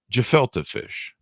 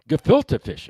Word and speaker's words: gefilte fish: say this right i think i'm in correction jafalta fish is it is that pronounced right the jafalta fish i still didn't catch that jafalta fish gefilte fish okay filter that's the problem you pronounce it